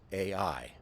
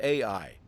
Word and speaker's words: Ai: The walls had fallen, and then they were going to go take this little town of Ai. It's pronounced the same way it's spelled, capital A, small letter I.